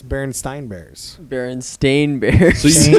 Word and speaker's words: Berenstain: Berenstein. You said The Berenstein. Berenstein Bears. Yes. It's Berenstein Bears. Berenstain Bears. So you mispronounced the name AI.